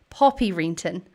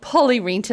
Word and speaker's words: Poppy Renton: just dropped one and been pronouncing our next guest's name wrong. We have Poppy Renton with us, not Polly Renton.